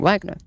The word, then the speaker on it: Wagner: But objectively speaking, since it is a German name, a German pronouncing it Wagner would be more correct than you pronouncing it Wagner.